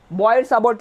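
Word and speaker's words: Biot–Savart: बॉयड-सावर्ट लॉ बोलते हैं, T silent होता है बच्चों, बॉयड-सावर्ट लॉ।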